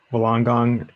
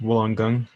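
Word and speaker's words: Wollongong: uh does sound familiar for sure um eric wolongong that's how i say it but it's actually pronounced woolen gung um as far as i i as far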